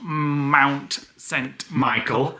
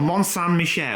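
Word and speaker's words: Mont-Saint-Michel: Lisa told us that it's not Mount Michel it's I just say it Melle so uh monan Michelle I expect two months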